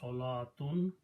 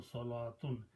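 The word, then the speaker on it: صلوة: In both cases the sound of waw is not there. So pronunciation it says salatun. This is also salatun.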